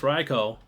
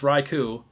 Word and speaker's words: Raikou: And yes, it is pronounced Raicho. I know a lot of people think it's Raikou. I think Leonhardt and Real